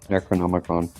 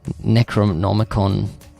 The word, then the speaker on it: Necronomicon: Necronomicon. Necronomicon off the floor.